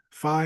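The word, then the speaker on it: phi: less common okay is going to be fi or fee depending on how you want to pronounce that um if it's 5 theta kappa then we go with fi but I usually pronounced it fee but whatever and then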